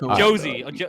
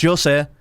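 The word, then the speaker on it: José: all right so you've you've butchered the pronunciation A little bit but Jose let's see if Jose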